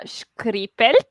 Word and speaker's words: Škripelj: name properly for me skripal i mean we are close to italy but no it's pronounced harder than that skripal anyway if you want